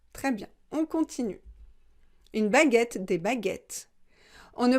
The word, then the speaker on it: baguette: un accent d'accord très bien on continue une baguette des baguettes on ne prononce pas le but le eu est nécessaire